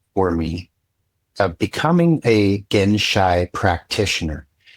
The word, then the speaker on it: genshai: to do was I learned this word called genshai and it's spelled g e n s h a i.